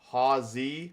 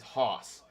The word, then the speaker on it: Hawzi: So, the way my family has always pronounced it is Hawzi, like like ha ha zi, but just leave out the extra ha. So, it's ha and then like zi. But, the way I like tell everybody to pronounce it is Hoss.